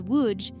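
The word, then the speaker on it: Łódź: city of lods thrives lods pronounced as wuj is a city that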